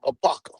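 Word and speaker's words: Apopka: I like, man, A-P-O-K, what the hell you pronounce this shit? Apaka.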